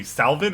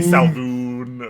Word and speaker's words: Salvan: Also, just because I've been saying it the entire stream, is the name actually Salvan or is it pronounced differently? No, it's just Salvan. Yeah. Salvan. Okay. Salvoon. Yeah. Because I've heard some people say Salvoon or like other variations No, of it's it.